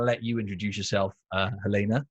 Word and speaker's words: Helena: it okay so i uh my name is helena good job on pronunciation um i'm an online fitness coach so